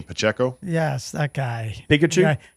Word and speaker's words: Pacheco: I am going to take Pacquiao for KC. You mean Pacheco?